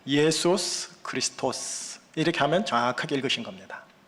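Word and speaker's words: Ἰησοῦς Χριστός: 예수 그리스도, 이걸 헬라어로 보시면 이렇게 읽혀져야 됩니다. 예수스 크리스토스, 이렇게 하면 정확하게 읽으신 겁니다.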